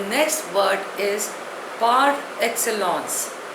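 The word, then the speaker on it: par excellence: पेरेंट्स in there प्रेजेंस the next word is पार एक्सलस spelling इ पी ए आर ई एक्स सी ई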